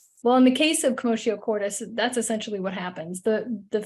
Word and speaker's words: Commotio Cordis: So I put the phonetics there because I've heard this pronounced so many different ways. So it's Commotio Cordis, and it means, it's Latin for commotion in the heart, which is very on the mark, right?